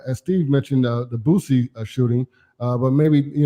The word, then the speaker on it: Boosie: i thought you said gucci oh okay no boosie okay busy and it's not little boosie uh